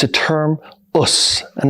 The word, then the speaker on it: Osu: And that contraction right which is pronounced as us is a term that means I'm going to do my best.